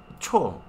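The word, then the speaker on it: 초: Y para indicar segundos, se dice cho. Como macho, cho.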